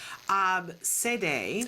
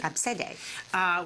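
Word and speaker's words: Abcde: spelled A-B-C-D-E, and I understand it's pronounced Absede. Absede.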